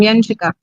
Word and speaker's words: Yanika: Oh, that that is the right pronunciation. Yanika.